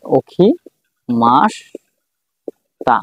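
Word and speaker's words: 起きました: যখন এখানে ক্ষীণ দিবে, ক্ষীণ হবে, তখন তখন কি হবে যে ওখি মাস তা, মাসিতা লিখলাম কিন্তু উচ্চারণ হবে কি ওখি মাসতা।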